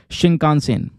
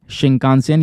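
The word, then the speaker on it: Shinkansen: आपसे क्वेश्चन बन है नाम है इसका दोस्तों शिंका सेन क्या नाम है शिंका सेन यह स्पेलिंग मैंने आपके सामने लिख दी है एस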